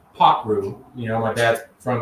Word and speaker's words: Pakroo: call Packer yeah so it's actually pronounced pot root you know my dad's